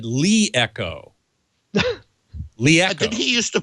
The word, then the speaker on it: LeEco: of product development, and I asked him, how do you pronounce that name? He said Leeco.